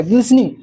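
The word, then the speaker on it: glistening: T silent कर, ग्लिसनिंग।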